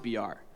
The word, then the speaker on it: Beer: Uh, my name is pronounced BR.